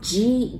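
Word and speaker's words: じ: Za, ji, zu, ze, zo. But the second one, that's Z, I, but we really pronounce J, I, right? Ji.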